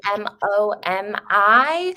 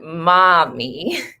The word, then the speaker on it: Momi: I know it's spelled M-O-M-I, but you're supposed to say it like Momi, not mommy.